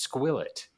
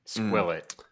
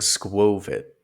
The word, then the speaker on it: Skwovet: the word squet yeah you keep saying sov it squo it like it's a long o I was but I was glancing at the The Source material and it is the combination of squirrel and covet so you think it's